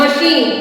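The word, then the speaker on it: machine: एच ई A shape M ए सी एच आई एन ई मशीन यहां प भी श आया है इसका उच्चारण सी एच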